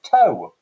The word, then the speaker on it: to: vowel shift so you take a modern word like 2 the preposition and in 1400 that would have been pronounced toe modern english wife middle